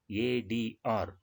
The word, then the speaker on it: ADR: Here we pronounce the abbreviated form letter by letter, ADR.